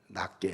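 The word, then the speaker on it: 낫게: 빌립보 2장 3절에 나보다 남을 낮게 여기라. 지읒이 아니에요. 지읒. 낮게가 아니야. 낮게가 아니라 시옷이에요. 낮게.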